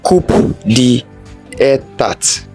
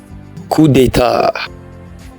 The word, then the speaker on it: coup d'état: Do you pronounce this as coup d'état? It's wrong. It is pronounced coup d'état.